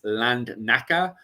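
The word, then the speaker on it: Lednica: the island of um this is me butchering it by the way, which is Land Naka, which is spelled L E D N I C A.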